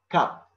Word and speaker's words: cup: the second one is cup cup after c you have u which is a hard vowel that's why you have to pronounce like k okay and the third